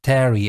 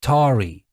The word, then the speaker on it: tarry: it is not pronounced tarry anymore. It is tarry because it comes from tar.